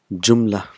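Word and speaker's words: جملة: sentences what are those sentence is called jumla in Arabi jum but we will pronounce it jumla so last letter is not pronounced so first jumla we'll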